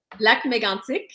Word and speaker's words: Lac Mégantic: Lac Mégantic.